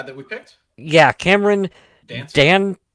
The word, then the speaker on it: Dantzler: Yeah, Cameron Dantzler. Dan Tasler? Dantzler. How? Yeah, Dantzler? I would say Dantzler, like dance, Dantzler?